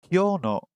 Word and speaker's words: 今日: Kino or kyo? 今日の夕飯は全然美味しくないです。 Did you hear that? So the word in Japanese for today is kyo. Kyo. Kyo. Kyo. I'm not even pronouncing it properly.